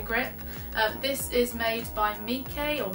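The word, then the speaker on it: Meike: This is made by Mike, or Mike. It's spelled M-E-I-K-E.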